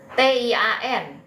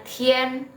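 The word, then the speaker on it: 天: n ya jadi bacanya Tien bukan Tian ya bacanya a-nya selalu jadi e kalau digabungin dengan I dalam huruf vokal suatu Pinyin Nah t-nya itu dibaca jadi th ya Tien gitu ya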